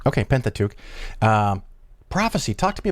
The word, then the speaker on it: Pentateuch: penta what's the proper way to say that pentateuch okay pentateuch um prophecy talk to me about prophecy because